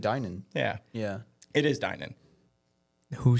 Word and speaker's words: Dinan: It is Dinan. Who says it? Steve Dinan, the owner of Dinan in San Jose, California. Dinan or takeout?